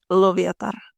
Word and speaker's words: Loviatar: Mir and Lovatar, the pronunciations.